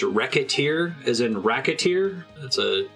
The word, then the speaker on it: Recettear: I think this is also the name of two characters, Recette and Tear. So maybe it should be pronounced Recettear. That seems to be the word of God.